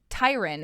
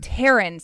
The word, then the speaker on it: Taryn: So Tyron, is that how you say it? Taryn. So I said it wrong earlier, and he corrected me.